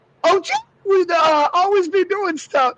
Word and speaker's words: OJ: Not Orenthal. OJ. And OJ. The emphasis is on the OJ.